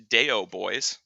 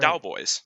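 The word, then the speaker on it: Daoboys: Yeah, You don't pronounce it Deo Boys. It's not that's true. Callous Deo Boys. It's Callous right. Dowboys. That's right.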